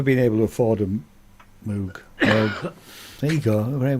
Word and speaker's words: Moog: Moog rhymes with Vogue.